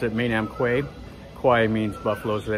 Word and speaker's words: Kwai: as the americans say anyway the thai is pronounced at main am quay kauai means buffalo so they don't call it